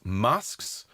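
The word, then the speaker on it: masques: he wrote music for what were known as masks and that's spelled m-a-s-q-u-e-s and these were courtly entertainments where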